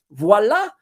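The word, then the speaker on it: voilà: 10 to 15 Expo voila which is French for there you have it which is best pronounced with a French accent voila and there we have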